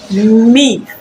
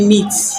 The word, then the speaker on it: myth: It's myth. Myth. Myth. No be meat. It's not meat, or it's not MEAT. This is MYTH. So when it comes to TH, usually pronounce it as th.